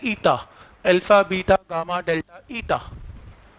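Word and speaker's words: eta: और next quantity का नाम है कोफिशिएंट ऑफ विस्कोसिटी, बहुत यूज होती है, इसका सिंबल है ईटा, इस सिंबल को प्रोनाउंस करते हैं ईटा, अल्फा बीटा गामा डेल्टा ईटा।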